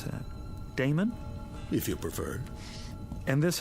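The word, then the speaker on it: Daemon: e m o n how do you you pronounce that Damon if you prefer and this address I guess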